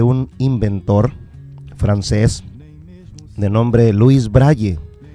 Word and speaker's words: Louis Braille: inventor francés de nombre luis braile louis braille yo lo estoy pronunciando así como así como está escrito luego creo que es